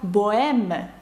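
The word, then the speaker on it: bohème: приклад також дам вам слово Богема французькою воно пишеться боем з літерою аш всередині але аж не вимовляється ніколи до речі про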